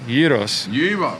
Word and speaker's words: gyros: oh my god and i tell people pronounce it y-e-e-r-o-s heroes that's right tell me